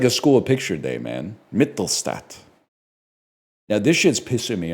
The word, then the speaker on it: Mittelstadt: How do you pronounce this, or how do you spell this dude's name? Mittel, Casey Mittelstadt. There we go. This is like a school picture day, man. Mittelstadt.